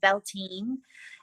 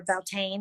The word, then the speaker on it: Beltane: first day is also a Celtic holiday called Bell teen and are Beltane how you like to pronounce it and I love it